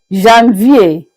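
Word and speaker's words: janvier: We began by saying that January January is pronounced as Jean V.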